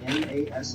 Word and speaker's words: NAS: Now it's pronounced like NASS, and it stands for Network.